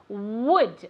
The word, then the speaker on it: would: with the pronunciation of would, okay? We need to say that w sound, okay? It shouldn't ever be a G sound like good or never a V sound either, would, okay?